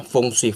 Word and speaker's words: Feng Shui: Feng Shui ya, ditulis Feng Shui dibacanya Feng Shui.